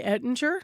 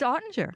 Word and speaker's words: Ottinger: I'm going to say Ettinger, not Ottinger, right? It's Ottinger.